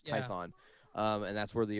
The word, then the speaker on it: Tython: uh what is it typhos is that how you say it python tython not tythos tython um and that's where